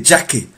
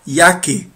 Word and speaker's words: Jacke: bluesy jacket is yucky j in german is pronounced like why you don't say jackie you say ya yaki like why yaki yaki